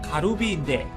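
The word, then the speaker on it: カルビ: 갈비를 일본식 발음으로 하면 가루비인데, 일본 맥도날드가 일본을 대표하는 버거로 가루비 맥을 소개한 사건이 있었습니다.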